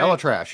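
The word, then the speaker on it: ElAttrache: Elatrash, yeah.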